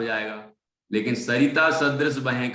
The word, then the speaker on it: सदृश: और इसमें लिखा है सरिता सदृश, सदृश है ना, सदृश नहीं है, सदृश, दृश्य, सदृश, ठीक, उच्चारण ठीक रखें।